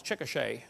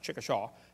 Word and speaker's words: Chickasha: 2005 textbook, and I pronounced it wrong as Chickasha, not Chickasha, Chickasha, Oklahoma. I got corrected during the break.